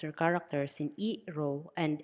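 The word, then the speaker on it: ロ: Katakana ro, pronounced as ro, ro, ro.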